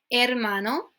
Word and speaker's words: hermano: In Spanish, you never pronounce the H. It's just a silent letter. Por ejemplo, tenemos hola. So, hola. Okay, I have no hola, nothing, no H. You just drop it and then just pronounce everything else as if the H wasn't there, okay?